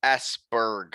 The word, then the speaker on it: Esbjerg: And Esbjerg would be Esberg, folks, just for the English listeners.